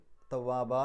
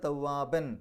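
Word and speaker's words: تواباً: അതുകൊണ്ട് ഫത്ഹ് ഇട്ടിട്ട് വേണം രണ്ടക്ഷരം നീട്ടാൻ. അപ്പോൾ ആ രൂപത്തിൽ തവ്വാബ എന്ന് പറഞ്ഞിട്ടാണ് നിർത്തുക. ഇനി അവിടെ കൂട്ടി ഓതുകയാണെങ്കിലോ, കൂട്ടി ഓതുക എന്ന് പറഞ്ഞാൽ തൊട്ടടുത്ത സൂറത്തിലേക്കല്ലേ കൂട്ടി ഓതുക.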